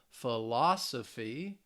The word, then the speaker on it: philosophy: it so my philosophy remember it ends with the the phy that third to last syllable philosophy my philosophy teacher that's